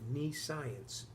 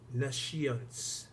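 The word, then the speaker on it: nescience: the word is NES c-i-e-n-c-e it looks like knee science but it's pronounced nashians and that word nessians let me describe it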